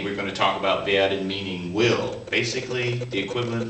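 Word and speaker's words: wir: VI we will is VI don't forget that a w is pronounced like an English V on Z on Z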